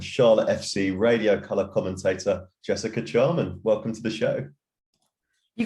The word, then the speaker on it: Jessica Charman: fellow brit and charlotte fc radio color commentator jessica charman welcome to the show you got my name